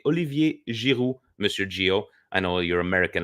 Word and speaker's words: Giroud: It's Olivier Giroud, Monsieur Gio. I know your American accent there. There is no D. The D is silent.